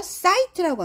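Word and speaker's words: sight: 이런 걸 이중자아 그래요 근데 얘가 나 소리가 안 날 때가 있거든요 소리 안나요 근데 얘가 없으면 시트가 되잖아요 그래서 얘가 들어가서 사이트라고 하면 돼요 아이 발음하세요 보기 그러면 보기 광경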